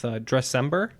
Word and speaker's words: Dressember: cause in front of you as well with Dressember. Am I pronouncing that right?